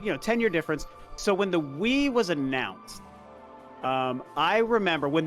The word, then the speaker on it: Wii: He said Wii, and he had to say it sounds like the word Wii, W-E.